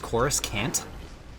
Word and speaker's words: Coruscant: Coruscant, I got that one. Cora who? It's pronounced Coruscant.